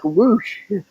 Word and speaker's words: Rush: And I think that's why they're pronouncing him like Roosh. Um, I I've only called him Rush. That's how it's spelled, anyway.